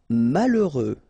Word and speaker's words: malheureux: Malheureux. H doesn't exist, okay, so you get mal, heureux. Final X not pronounced.